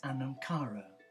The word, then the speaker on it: anam cara: watching the short video and the title is anamara what is your understanding of this beautiful Celtic word anamara in Gaelic it's spelled a n a n c h a